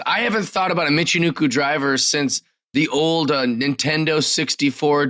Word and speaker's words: Michinoku driver: I don't feel that they booked her well so far, but she did I'm going to say it wrong, a Michinoku driver.